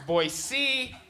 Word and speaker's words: Boise: time I work there they're like actually it's pronounced boy C it's boy C and I'm like all